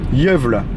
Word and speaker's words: Gävle: Alors, faut pas me demander le nom de la ville, là, Jövle. Ça s'écrit Gävle en français, mais en suédois, ça se dit Jövle.